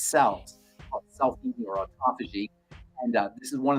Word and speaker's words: autophagy: How do you say autophagy? Autophagy. Autophagy. Phage. Autophagy. Phage, P-H-A-G, phage means to eat. Auto means self. Autophagy means self-eating. So essentially, the body cleans out all of its cells, self-eating or autophagy.